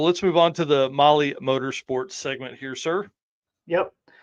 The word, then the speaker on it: Mahle: And of course, for our podcast listeners, Molly is spelled Mahle.